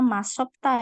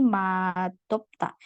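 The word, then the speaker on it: 맛없다: jadinya masis Bu nah lawannya MTA ini tidak dibaca masopta ya tapi matopta dia akan berubah jadi D gitu cara bacanya Ya nah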